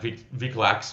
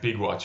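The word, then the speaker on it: Wikłacz: It looks like Vic Lax, but I think it's pronounced Big Watch, right?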